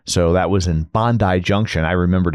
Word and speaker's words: Bondi Junction: So that was in Bondi Junction.